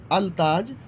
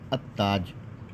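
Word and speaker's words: التاج: अब आप इसको पढ़ेंगे अ ताज अलताज नहीं होगा यह हमेशा याद रखिएगा अ ताज हो जाएगा यह मिल जाएगा लाम गिर जाएगा यानी साइलेंट हो जाएगा लिखा जाएगा लेकिन पढ़ा जाएगा अ ताज फिर आपको बताते अर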